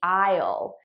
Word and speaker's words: I'll: see you all all notice how I'm actually saying all which is the unstressed pronunciation the stress pronunciation would be aisle but naturally I would just say all I'll see you all